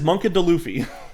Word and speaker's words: Monkey D. Luffy: He says Monkey D. Luffy. That's great. He says it like not like D, like duh.